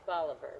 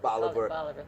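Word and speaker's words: Bolívar: It was Bolivar. But Bolivar. They Americanized it. Simon Bolivar. Bolivar. But the original pronunciation, the accent is Bolivar.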